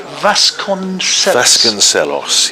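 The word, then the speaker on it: Vasconcelos: morning which the captain ricardo you pronounce it vascon celos yes which uh he nicked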